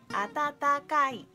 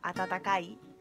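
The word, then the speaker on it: あたたかい: muchísimo pronunciar número cco atatakai atatakai que significa caliente calentito y de hecho nos cuesta bastante pronunciar esta palabra atatakai con con tatata Así que normalmente solemos pronunciarla como at tacai atac Bueno nos resulta más fácil pero a vosotros también atat atac atat cí atac lo que pasa es que attakai suena un poco más coloquial y atatakai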